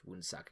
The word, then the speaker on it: Woonsocket: Yeah, it looks like I am correct in that it is pronounced Woonsocket, because that would be embarrassing.